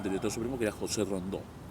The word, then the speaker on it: Rondeau: supremo, que era José Rondó. Se escribe Rondeau, por si ustedes no lo conocen como Rondó.